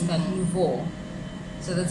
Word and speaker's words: nouveau: So nouveau is French for fresh or new. Okay. So the NUVO. So that's the dictionary pronunciation of the French word nouveau.